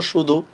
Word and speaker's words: শুধু: এই আমি এটা কি উচ্চারণ করতেছি, আমি লিখছি তালব্যস্য দিয়ে, উচ্চারণে তো তালব্যস্যই আছে।